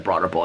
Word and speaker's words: Broad Ripple: is this bar in Broad Ripple apparently the way I say Broad Ripple and people like if you live in Indianapolis everybody says Broad Ripple it sounds like it just all slurg together but people are like